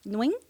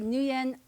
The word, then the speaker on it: Nguyen: But it's like the way it's supposed to be pronounced is noing. But New Yen, I don't care.